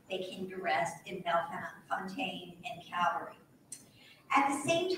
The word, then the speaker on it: Bellefontaine: Next door to Bellefontaine is also Bellefontaine, that is the correct way to pronounce it. It's not Bellefontaine, it's Bellefontaine.